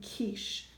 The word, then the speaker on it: quiche: So instead of it being the qua sound like Q normally makes, it just makes the K sound in words like quinoa and quiche and keys and Cutter.